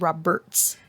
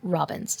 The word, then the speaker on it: Roberts: Um, her last name is Roberts, not Robins.